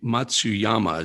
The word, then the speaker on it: Matsuyama: meantime the masters man that was amazing awesome matsuyama is that how to pronounce i believe that's how i pronounce that's